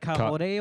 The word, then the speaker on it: Karori: If you try and say Karori in like a proper Māori pronunciation, Oh yeah, it's weird. Karori. It's like Kaore or something.